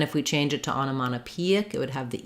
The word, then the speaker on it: onomatopoeic: So first syllable stress, ana. Sorry, not ano, but ana. The second O is unstressed. Ana. Mata peic, onomatopoeic. Secondary stress here on this first syllable and main stress on P. So rewriting that for you. Onomatopoeic with the stress on that second to last syllable, onomatopoeic.